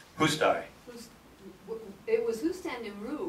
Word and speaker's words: Hustai: But how do you pronounce that, Ginger, so I don't screw up? What? Hustai. Hustai.